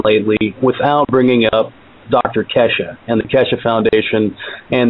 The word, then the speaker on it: Keshe: The way he pronounces his own name is Keshe. Okay. K-E-S-H-E. It looks like Keshe, but apparently he says it Keshe.